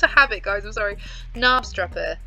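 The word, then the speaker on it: Knabstrupper: habit guys i'm sorry nabstrapper this k is silent right let's have a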